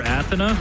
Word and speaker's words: Athena: see maybe athena yeah as dahang likes to call her athena that's the correct pronunciation you tried correcting him